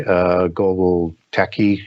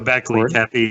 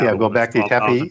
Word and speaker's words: Göbekli Tepe: one over in Turkey, Global Tepe, and I know I butchered that. Göbekli Tepe, yeah. Göbekli Tepe.